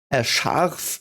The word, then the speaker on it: Scharf: Scharf is basically just pronounced like that because there's an S, C, and H, and that always means it's, like in English it's an S and an H, but it's exactly the same sound.